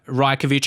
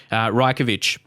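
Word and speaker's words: Rajković: 5 million signing Predrag Rajkovic. I believe that's how you say it, because I remember, because someone said that in comments last time when I must have signed him, Rajkovic.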